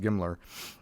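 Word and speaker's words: GMLRS: guided missile La launch rocket pronounced gimler was shot out of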